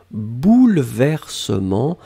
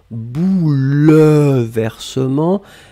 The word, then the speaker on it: bouleversement: un substantif au pluriel bouleversements alors attention on écrit vraiment eu après le elle même si phonétiquement il n'existe pas vraiment on ne dit pas bouleversement mais on prononce bouleversement mais le 1 doit